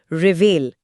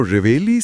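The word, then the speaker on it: reveille: revamp number 1488 रिवेल उच्चारण पर ध्यान दें रेवेले रेवेली रेवेले हिंदी अर्थ फौज में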